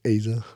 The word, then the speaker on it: Eiza: I'm pretty sure it's Eiza. No, it's Eiza. Stupid bitch. The E is silent.